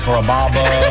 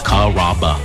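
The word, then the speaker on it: Carrabba: You know, Kuraba, Kamaba, Kamba. It's a really easy name to pronounce. It's Karaba.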